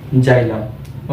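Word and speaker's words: xylem: उस वेसल का नाम है जाइलम, ओके।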